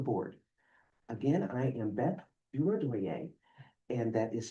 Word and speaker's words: Durodoye: Again, I am Beth Durodoye, and that is spelled D-U-R-O-D-O-Y-E for the record.